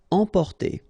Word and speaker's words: emporter: Emporter, okay, same thing here for the nasal, emporter.